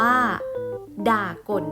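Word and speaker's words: ด่าก่น: คำ แรก นะ คะ คำ นี้ อ่าน ว่า ด่า ก่น นั่น เอง ค่ะ ด่า ก่น หมาย ถึง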